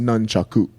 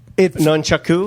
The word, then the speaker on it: nunchaku: It's pronounced nunchaku. Nunchaku? Nunchaku. That's the correct word.